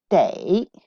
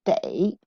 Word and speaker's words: 得: 的觉得。The second one, day. This does not pronounce the. It pronounced day.